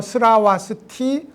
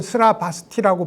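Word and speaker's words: Śrāvastī: 발음으로는 뭐 스라와스티 혹은 스라바스티라고 부르고 사위, 신라벌 혹은 설아벌이라고도 부릅니다.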